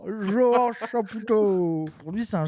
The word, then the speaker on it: Johan: Il veut bien prononcer le prénom, il connaît le prénom Johan, il se dit ah non, ça doit pas être ça, c'est Vohan, c'est Trump, c'est Vohan. Johan Chapoutot.